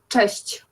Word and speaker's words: cześć: It means hi, so it's cześć. Hesh.